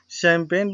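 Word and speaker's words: champagne: ये फ्रांस की शराब है, तो इसे शैम्पेन नहीं बोलते हैं, शैम्पेन। बट स्पेलिंग इसकी CH से शुरू है, तो यहाँ पर भी PAGNE। अगर इसको हम पढ़ें, सही से पढ़ें, तो ये चंपाग्ने इसका उच्चारण होगा, बट ये चंपाग्ने नहीं होकर के ये शैम्पेन ही होगा।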